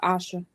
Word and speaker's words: Aisha: Her name is spelled that way, and it's pronounced Asha.